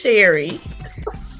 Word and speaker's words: Cherrie: And just a reminder, the C is soft, so it's Cherrie.